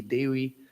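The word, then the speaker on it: Dewi: japan and she is worshipped as daewii with a w instead of a v dewey the way they pronounce it in bali as you know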